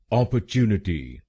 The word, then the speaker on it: opportunity: शब्दांश है टी वाई पहले शब्दांश को यानी ओ पी प हम बोलेंगे ऑ ऑप दूसरे शब्दांश को यानी ओ आर हम बोलेंगे अ अ तीसरे शब्दांश को यानी टी यू हम बोलेंगे चू चू चौथे शब्दांश को यानी एन आई हम बोलेंगे ने ने और आखरी शब्दांश को यानी टी वाई हम बोलेंगे टी टी तो बनेगा अपॉर्चुनिटी अपॉर्चुनिटी ऑ अ चू नेटी ऑ अ चू नेटी अपॉर्चुनिटी ऑर्च निटी और यह ध्यान में